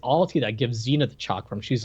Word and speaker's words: Chakram: It's called Chakram. Chakra. Chakram.